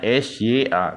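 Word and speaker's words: ش: Sya bacanya Sya tulisannya s y a kalau ini tulisannya t s a balii Nah ini baru Sya atau syin Nah jadi ini dipanjangkan bibirnya ke depan Sya tulisannya pakai y ya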